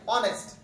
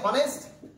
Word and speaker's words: honest: যেমন ধরুন আমরা যদি একটা অ্যাডজেক্টিভ আপনাকে বোঝাতে যাই, অনেস্ট, ক্যান ইউ সে হনেস্ট? হনেস্ট কেউ কি পড়ি? পড়ি না, ঠিক আছে? এক্স্যাক্টলি আমরা সেটাকে কি পড়ছি অনেস্ট পড়ছি তাই কি না এখন